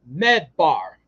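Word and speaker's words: מדבר: The Hebrew word for the desert is medbar, medbar, because there are no vowels in Hebrew. The letters that spell it out are MDBR, mebar.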